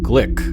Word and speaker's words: Glück: collection of poems from louise glick and i think that's the correct pronunciation glick was named the